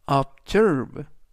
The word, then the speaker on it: observe: 눈이 와서 출발하지 못했다라는 뜻이 되겠습니다 이번 단어는 observe observe 하시면 되겠고요 이강 는 S 뒤에 있는